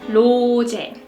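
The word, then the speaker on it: 로제: Jenny alright next rosette we pronounce our name like low to low check so the loo here it's more like the L sound not the arson we don't like rosetta low tech low tech low right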